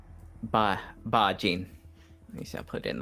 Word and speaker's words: Bah-jin: Bah-jin.